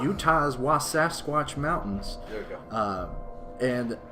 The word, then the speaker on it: Wasatch: Wasatch. It's it's kind of like Sasquatch. It's like Wasatch. All right, Utah's Wasatch Mountains.